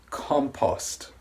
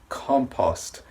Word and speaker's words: compost: first word is pronounced compost compost the last sound is a tea sound it's unvoiced compost compost is basically organic